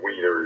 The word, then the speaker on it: Wiener: there and in the German language the word weiner is pronounced as if it started with a B